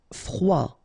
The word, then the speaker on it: froid: Froid, final D not pronounced.